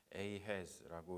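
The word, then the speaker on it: Ahaz: 지금 이야기를 하고 있습니다 아하스 한국말로는 그렇고 영어로는 a has라고 이렇게 발음을 하기도 하는데 이렇게 한 장 굉장히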